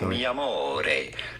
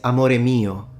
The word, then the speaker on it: amore mio: Mi amore. Amor. Mi is Spanish. We don't do that. It's amore mio. No one in Italian says mi amore.